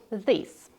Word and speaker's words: this: This a short sound. These a long sound.